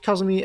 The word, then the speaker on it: Kazumi: right here is how you say this is kazumi and kazusa who is kazuza well that's more